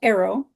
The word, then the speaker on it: Aero: Um, yes, typically I channel Arrow, and their name is spelled Aero.